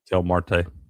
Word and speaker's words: Marte: If you would have put $1 on the Josh Naylor, uh, how do you say that? Catel Marde, Martyr, Mart, whatever. Marte.